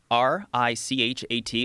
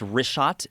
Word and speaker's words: Richat: Yeah, the Richat, R-I-C-H-A-T. It's worth mentioning he's that. got it already here. Yeah, in the first couple, I just want to say it's Richat.